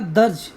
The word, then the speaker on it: dirge: Okay, next word है हमारा, इसको देखो प्रोनाउंसिएशन बोलता हूँ मैं पहले, प्रोनाउंसिएशन है इसका दर्ज, ठीक है।